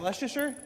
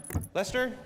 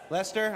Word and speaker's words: Leicester: How do you say it? Is that Leasher? Lester. Lester.